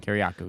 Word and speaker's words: Kiriakou: Kiriakou, yeah.